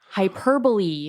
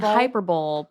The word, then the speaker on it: hyperbole: something like that and you're like oh yeah hyperbole oh dude like it's Hy like you've been saying hyperb but it's Hyperbole and they're like oh what